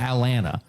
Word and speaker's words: Atlanta: and they call it Atlanta. They don't even like they don't even pronounce the T, you know, trying to get there for the Allar game.